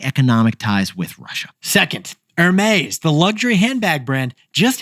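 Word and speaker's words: Hermès: Hermes is the outlier of the luxury industry. I think I overpronounced the H just now, and they're defying the luxury law.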